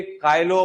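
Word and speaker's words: Chilo: काइलो पार्टिलस। क्या नाम है? चिलोपाटिलस लिखा होगा उसके अंदर। काफी सारे लोग चिलो बोलते हैं। लेकिन अपन प्रोनाउंसिएट कालो से ही करते हैं उसको। भले ही चिलो लिखा हो।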